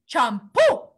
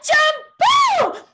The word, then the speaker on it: champú: In Spanish, we call shampoo, champú, like you're about to sneeze. Can you say it like you're about to sneeze? Champoo!